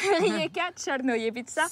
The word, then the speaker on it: Rijeka Crnojevića: Allez, prononce-le. Rijeka Černojevica.